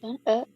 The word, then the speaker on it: en: The first one. First one, je suis né à Madrid. Here, what is the answer you take? In. On, En. not en, it is on.